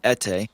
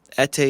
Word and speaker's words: Ete: my name that is much easier to pronounce than ete i tell people my name and they say what huh i don't understand so just to get it over with um etay is e-t-e last name is